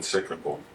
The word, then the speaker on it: cyclical: I think that the biggest, you know, Deep Ellum's been cyclical. I mean, not cyclical as far as Cyclical, that's say 3 syllables.